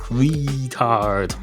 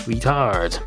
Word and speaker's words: retard: It's not retard, it's retard. Retard.